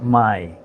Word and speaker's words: Mai: today we're going to discuss a film called my it's sped m a I and it's pronounced my which is a vienamese pronunciation and it's on